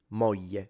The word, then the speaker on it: moglie: In standard, it's a l. It can be difficult. Figlio, famiglia, moglie, foglia, l. That's standard. And it's commonly natively spoken like this in center north. So like Tuscany, Rome, that's how they say it. If you go south, like this speaker and me natively, we simplify it into a Y. So it becomes y, moglie, figlio, famiglia, foglia.